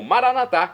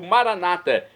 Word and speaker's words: Maranata: assim agora eu clamo maranat como dizemos nós católicos ou Maranata como dizem nossos irmãos separados os evangélicos ou protestantes não importa a pronúncia o significado é o